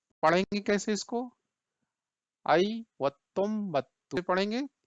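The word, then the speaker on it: ಐವತ್ತೊಂಬತ್ತು: आई वत्तुम बत्तु पढ़ेंगे, ये देखिए थोड़ा सा ये इसका स्पेलिंग थोड़ा लॉन्ग है, लेकिन इट्स नॉट डिफिकल्ट।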